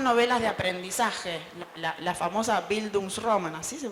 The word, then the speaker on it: bildungsroman: y mudanzas son novelas de aprendizaje la famosa bildungsroman así se pronuncia abismos román la gente que estudia letras